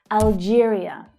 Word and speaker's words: Algeria: Algeria. Algeria. It's the same stress pattern as Albania. Algeria. Algeria. It's the J consonant sound.